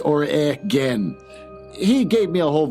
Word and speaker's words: Oregon: write this down so I don't say Oregon origon it's Oran he gave me a